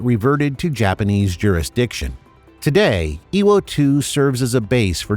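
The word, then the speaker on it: Iwo To: The new name, Iwo 2, represents the same kanji characters as Iwo Jima, but is pronounced differently.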